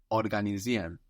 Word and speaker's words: organisieren: Now this I-E-R-E-N ending, which will show you that the verb came in from Latin, is pronounced like Ian mostly. It's contracted in spoken and the pronunciation you get is Ian. So you don't really hear the R there.